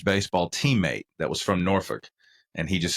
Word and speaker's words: Norfolk: Yeah, no, they in the UK they don't pronounce the L, and neither do the people who are from, say, Norfolk, Virginia. Norfolk. I had a college baseball teammate that was from Norfolk, and he just said Norfolk.